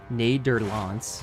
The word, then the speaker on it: Nederland: Netherlands is pronounced approximately as Nederlands.